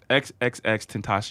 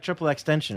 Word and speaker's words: XXXTentacion: you say it yeah it's like Spanish as I'm sure yeah just or you can say rolls right off the tongue Tim passion I thought it was like triple extension or something people's the people's people